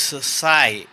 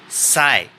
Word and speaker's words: psi: So where this psi is nothing but is a total wave function. It's a Greek letter and it is pronounced as psi, psi.